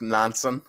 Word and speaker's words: Nansen: I think that's pronounced Nansen.